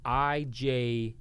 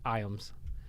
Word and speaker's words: Ijames: She was like, hey, I appreciate it, but it's actually spelled, it's pronounced Iams. I was like, Iams. Well, I guess the J was kind of like silent or something.